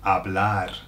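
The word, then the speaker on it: hablar: remember because talk is AB now bear in mind that the H is silent here when words start with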